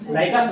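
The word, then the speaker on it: Lycos: किसी को लाइक कर रहे हो तो खोज रहे हो लाइकस लाइक कर रहे हो, भले उसकी स्पेलिंग जो भी हो लाइकस इसको प्रोनाउंस करते हैं, लाइकस सर्च इंजन है, लाइक कर रहे हो तो खोज रहे हो, ठीक है।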